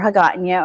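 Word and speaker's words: Hagåtña: You start at McDonald's in Agana, or Hagatnya, or however you want to pronounce it these days.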